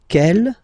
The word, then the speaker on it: quelle: And then the feminine form is written like that, Q-U-E-L-L-E, but it's pronounced like the masculine form. Quel at the masculine, quel at the feminine. Okay, so it's basically same pronunciation.